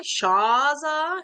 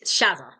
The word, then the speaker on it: Shazza: They put an R in there, Sharzer, whereas it's Shazza, just Shazza.